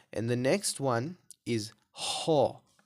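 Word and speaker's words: حاء: The next letter within this three similar letters category is ha, right? This is a throaty kind of light H sound, right? So it's a ha. So we pronounce it from the middle of the throat.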